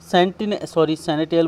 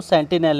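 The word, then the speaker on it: sentinel: सैनिटियल का मतलब होता है क्या, सैनिटियल बोल दिया मैंने, इसको सेंटिनल है इसका प्रोनाउंसिएशन।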